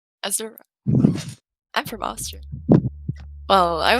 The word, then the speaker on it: Azura: So I tried taking the name Azur because I liked the pronunciation, but I knew that everybody would pronounce it differently because not everybody takes a U for an U. So I went with Azura because you can't really go wrong there.